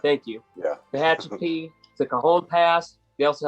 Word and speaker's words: Tehachapi: to if I say it right, Tehachapi Pass, Tehachapi, thank you. Yeah. Tehachapi, the Cajon Pass.